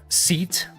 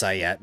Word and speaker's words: SEAT: Seat. Take a seat. Take a seat, please. Yes, I know it's pronounced Sayet, but seat sounds cooler.